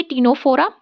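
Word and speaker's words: Ctenophora: पी से Porifera, सी से Coelenterata या फिर नाइडेरिया, टी से टिनोफोरा, यहाँ पे सी साइलेंट होता है इसमें, प्लेटीहेल्मिन्थेस प्लीज़ से, नोट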